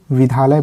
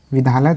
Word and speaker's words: विद्यालय: जो है विद्यालय, इस शब्द को कई लोग विद्यालय पढ़ते हैं।